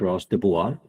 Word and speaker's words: Gros-Dubois: here with me today his name is Ross de Bois I hope I pronounced it correctly yes you have a great